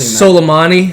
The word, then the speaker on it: Soleimani: Airport and it killed a general named Psalms I was like good luck pronounced Soleimani silly money that's all